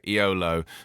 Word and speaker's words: Eolo: eolo where is it how do you pronounce the team because the renewed is it low okay you don't say e-o-l-o okay iolo cometa cycling team their